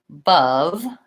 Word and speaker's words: above: my shorts wah and above there's my long schwa the stress and the word is on the second syllable above short long but you can hear